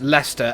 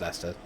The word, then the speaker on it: Leicester: lester why leicester why the fact that it's pronounced lester and then you look at the spelling that's why i found out it's not pronounced lasted oh crazy let's go